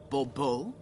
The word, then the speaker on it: Bobo: fine Monsieur de Bubo the emphasis falls on the last syllable Bobo mm-hmm see now I'd